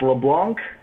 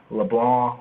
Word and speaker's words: LeBlanc: So it's LeBlanc, but it's LeBlanc. LeBlanc. Right? Yeah. Can you French. explain that pronunciation for me? So the pronunciation, it's just the French pronunciation of it.